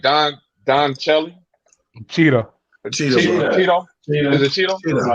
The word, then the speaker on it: Cheadle: But people like Don Cheadle, Cheetah. Is it Cheetah? It's Cheetah. Is it Cheetah? Everybody pronounces it different.